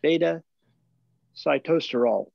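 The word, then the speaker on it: beta-sitosterol: Shackley's saw palmetto complex has a blend of palmetto berry extract, pumpkin seed oil, and enriched sources of beta cytosterol. And yes, that is how you pronounce it.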